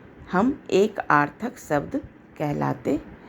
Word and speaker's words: एकार्थक: चलिए एक आर्थक इसमें एक को अलग कर दीजिए और उसमें आर्थक जो है उसमें आ जो है साइलेंट है यानी छिपा हुआ है लेकिन जब हम उच्चारण करेंगे तो हम क्या बोलेंगे एक प्लस आर्थक तब जाके हमको शब्द का प्राप्ति होगी एकार्थक अब एक क्या होता